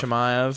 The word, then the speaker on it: Chimaev: I believe Khamzat it's Chimaev.